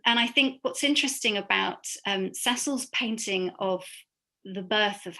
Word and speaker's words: Cecile: Note that she's Cecil, although it's written Cecile, she chose the male pronunciation for her name.